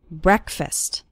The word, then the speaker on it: breakfast: while eating breakfast and the first syllable of breakfast is pronounced with an a sound it's not like the word break it's like bre breakfast or listen to an